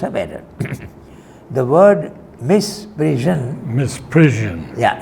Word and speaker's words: misprision: Misprision. Yeah, it's pronounced misprision, Z, okay?